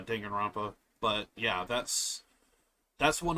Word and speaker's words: Danganronpa: uh yeah Danganronpa although although some people might pronounce it as uh Duncan ramp up but Duncan rampa danganron I always pronounced it uh Danganronpa but yeah that's that's